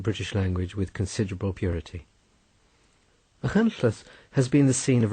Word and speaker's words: Machynlleth: Machynlleth, pronounced Machynlleth, is one of the